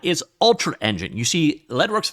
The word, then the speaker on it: Leadwerks: Not Leadwerks, Leadwerks. Apparently, I've been saying it wrong for years.